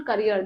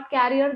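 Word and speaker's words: career: and build a successful करियर this is नॉट कैरियर this is करियर right ये करियर है studies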